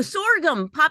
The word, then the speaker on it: sorghum: Oh, sorghum, sorghum.